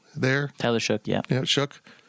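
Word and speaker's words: Shough: Tyler shook yeah yeah shook I know his name makes no sense how it's it's spelled sh or show yeah tell shook look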